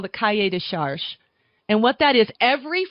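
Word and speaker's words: cahier des charges: learn, you pull up what they call the cahier de charge. It's spelled CAHIERDES, You pull that up, and it gives you all the regulations on what makes Tavel the Tavel.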